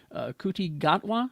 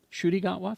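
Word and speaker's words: Ncuti Gatwa: season uh starring uh coutti gatwa is that how you say it the 15 doctor shy gatwa thank you and Millie Gibson is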